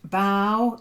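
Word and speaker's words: bough: shine Sean then um bow in the context in the book was is like bow the bow of a tree not like bow as in Robin Hood um we've already done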